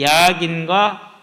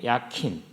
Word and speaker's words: 야긴: 그 중에 한 가지가 이제 야긴과 보아스이죠. 히브리어를 그대로 읽어보면 야킨이에요. 야킨. 그리고 보아즈, 이것을 이제 영어로 옮겨서 다시 오니까 야긴이 되고 보아스가 되고 이렇게 이제 발음이 되는 건데요.